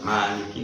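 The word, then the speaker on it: مالك: Karena kalau hafaz ya tetap harus Maliki, ma-nya dibaca panjang.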